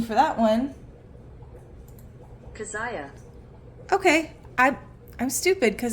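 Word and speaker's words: Keziah: pronunciation for that one kazaya okay I'm I'm stupid cuz that just sounds what it it sounds like what it looks like okay um his second one kaziah and his third one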